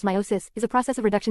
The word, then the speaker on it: meiosis: analogy or life sense meiosis pronounced meiosis is a process of reduction division in which